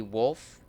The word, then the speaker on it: Wolfe: We have Billy D. Wolfe, with a silent E at the end, I believe, as Professor